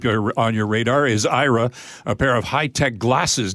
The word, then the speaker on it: Aira: technology and what went into its development absolutely IRA which is spelled a IRA is a pair of smart